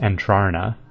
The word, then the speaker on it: Entrana: Then Entrana, which is pronounced Entrarna.